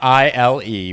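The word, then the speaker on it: Émile: So it's Emile with an accent over the first E, and now you say it?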